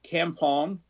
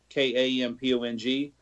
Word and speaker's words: kampong: You may hear the word Kampong, Kampong, also spelled with a C, Campong.